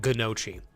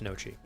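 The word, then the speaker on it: gnocchi: I used to call it gnochi, but I think it's nochi.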